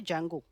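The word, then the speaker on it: Django: पर एक लाइब्रेरी है उसको हम बोलते जंगो क्या बोलते हैं जंगो य वाला है जे ए एन जी य पर डी साइलेंट है ओके ओके डी जंगो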